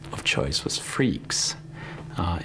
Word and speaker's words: Freax: Linux My name of choice was Freaks.